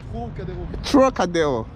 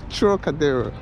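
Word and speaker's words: Trocadéro: Monsieur, pronunciation of this name? Cocadeo. Trocadeo. Okay, it's Trocadeo. Thank you. Merci. So there you go, Trocadeo.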